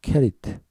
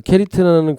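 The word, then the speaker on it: כְּרִית: 그러나 이 그릿의 히브리 발음은 원래 케리트입니다. 케리트. 그 케리트라는 그 어원은 카라트라는 단어에서 왔는데 그 카라트라는 단어는 고립시키다, 잘라내다라는 동사입니다.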